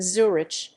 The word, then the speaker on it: Züri: in German standard German in the local dialect the name is pronounced without the final consonant as Zuri stressed diary